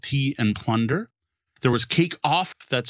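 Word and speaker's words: Cake Auf: There was Cake Off, that's spelled A-U-F, from Julie Chen.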